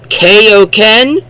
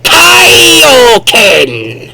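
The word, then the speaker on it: Kaioken: it I hate it koen no there's an eye in there kaien that's what it's called pronounce the eye moving on Vegeta is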